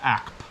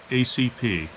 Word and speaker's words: ACP: ACP as a narrator you don't say 45 app it's 45 ACP it is short for